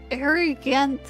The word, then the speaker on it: Ariganth: The proper pronunciation of the name should be Ariganth of Aramorica.